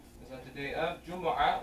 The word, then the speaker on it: Jumu'ah: that the day of Jumu'ah, or you can pronounce it Jumu'ah, Jumu'ah or Jumu'ah.